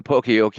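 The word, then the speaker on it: Poka-yoke: I looked it up yesterday to see how to pronounce it because I hear Pinocchio and Poke. Uh Pokeyok, it's errorproofing.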